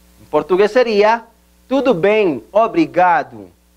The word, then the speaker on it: obrigado: Repita, obrigado.